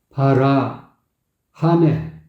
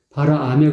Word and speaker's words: 바람에: 발음에 좀 문제가 있어요 발음 바라 하메 바라 하메 이렇게고 바라 아메 그든 바라 아메 근데 바라 하메 이렇게 부르고 있다고 목에 힘이 들어가서 아 발음이 하 발음이 돼버린 거야음 날려버리 허무한